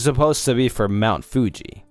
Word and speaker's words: Fuji: I call it Fuji. Because it's supposed to be for Mount Fuji, not Fugi, right?